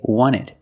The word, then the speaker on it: wanted: Wanted or wanted. It's more common to hear Americans say wanted. You have NT in the middle, the T is silent.